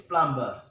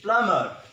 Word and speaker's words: plumber: what is this planta the wrong pronunciation is plumber' the right pronunciation is Plummer the son of B